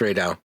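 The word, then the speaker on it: Rey Dau: It's Ray Dow.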